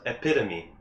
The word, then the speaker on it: epitome: It's pronounced epitome. Epitome. Compared to what? But it ends in E. The word is pronounced epitome. Really? Yes. What were E-P-I-T-O-M-E. Yes. E-P-I-T-O-M-E. Oh, it's epitome? epitome? Yeah. It's not epitome. It's epitome. There's no way.